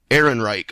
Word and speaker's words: Ehrenreich: script you know having uh what's-his-name here Alden Ehrenreich I believe is how you pronounce the last name having Alden go go